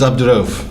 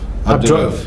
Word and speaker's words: Abdu-Raof: It's Abdu-Raof. Abdu-Raof.